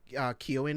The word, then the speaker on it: Keoghan: And I think Barry Keoghan, I think Keoghan is how his name is pronounced, I think.